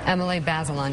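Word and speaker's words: Emily Bazelon: and contributing writer for the New York Times Emily basilon did I say it right then yeah thank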